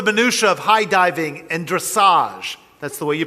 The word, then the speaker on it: dressage: we learn the minutia of high diving and dressage that's the way you pronounce it i asked someone and gymnastics and